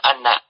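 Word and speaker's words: أنّ: Hamzah pada inna itu dibaca fathah, jadi dibacanya anna.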